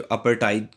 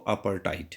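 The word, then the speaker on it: apartheid: जो सिस्टम था जिसको अपर्ट भी बोलते हैं कुछ लोग उसे अपर्ट बोलते हैं उसका जो सही प्रोनंसिएशन है वो अपर टाइट है ठीक है उसमें टीटीएच साइलेंट होता है तो अपटाइट तो जो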